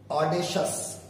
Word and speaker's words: audacious: audacious, आप देख रहे हो कि अंत में सी आई ओ यू एस आ रहा है, तो हम उसे शस प्रोनाउंस कर रहे हैं. एक बार फिर मैं बोल लू, शस, ये शियस नहीं है, audacious, जो निर्भीक होता